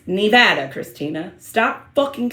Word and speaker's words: Nevada: It's Nevada, Christina.